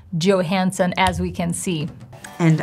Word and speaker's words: Johansson: And I think it's very important to know how the actor himself or herself pronounces her name. And she does Johansson, as we can see. And I'm Scarlett Johansson.